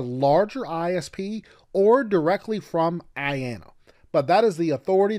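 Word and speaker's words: IANA: the internet Authority for names and numbers I pronounced Ayanna now most people get IP addresses from their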